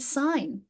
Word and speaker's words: sign: And you think of, I mean, the word sign. And you think of that silent G in there.